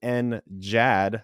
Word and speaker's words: NGAD: There's NJAD, that's a soft G, same acronym, just a soft G, and that's the Navy. So, of course, they had to name it the same thing, which is a hard G versus soft G.